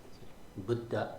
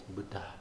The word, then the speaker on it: Buddha: So, it's not um Buddha Buddha Buddha said flatly, it's Buddha. There's a little extra puff of air. Um sometimes when people first learn this, they they get a little heavy on it. Um you don't have to get heavy on it. Just add a little air.